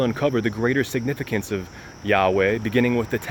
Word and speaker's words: Yahweh: Below is the math for the numerical value of YHWH, pronounced Yahweh, and written in Hebrew as that.